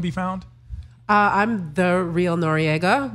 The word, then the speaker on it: Noriega: found I'm the real Noriega my last name is spelled NO r e i GA yeah it's like nori the rapper right you